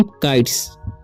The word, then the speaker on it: kites: ठीक है, तो अगर यहाँ पर लिखा हुआ है KE के बाद, ठीक है, और TE के बाद भी अगर S रहता है तो उसका उच्चारण स होता है, तो इसे पढ़ेंगे हम काइट्स।